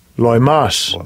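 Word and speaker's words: λοιμός: most a loyal most let's see how they pronounce it Strong's G 3061 Loy Mas all right and see what it means here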